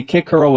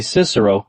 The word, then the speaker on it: Cicero: um I admit that I don't agree with the new pronunciation I never did umph a lot of nonsense in my opinion making boys say kick Hero at school when um for the rest of their lives they'll say Cicero if they ever um